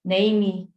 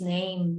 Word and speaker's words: name: and so start starting instead of saying name me for example they start realizing okay it's name name so it's not that extra syllable teaching them the notion